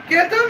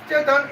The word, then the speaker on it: Ketan: Chaitan a I mean Ketan Agarwas I mistakly pronounced Chetan it would be Ket and now let's check